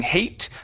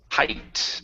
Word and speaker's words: height: And this word here, instead of being hate, the word is height.